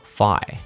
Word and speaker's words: Fi: with a familiar entity named fee or fi as this game calls it link followed F's advice wait fi isn't it fee have I really been pronouncing it wrong with my whole life this Arc if you